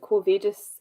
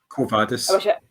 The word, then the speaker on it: Quo Vadis: Quo Vadis. You don't with Latin. You don't have any inflections in the language. You just say it as it's written.